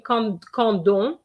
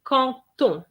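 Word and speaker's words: quand on: to know is that the d is not going to be pronounced as a d the d sound is going to change into a t sound so instead of saying condon we're going to say conton contournarism so that is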